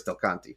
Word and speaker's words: Del Conte: And then the guy was talking about Chris Del Conte. It reminds me of Schmonty is what it rhymes with.